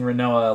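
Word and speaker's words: Rinoa: Oh, I forgot that we're pronouncing Renoa like Renoir because of quinoa.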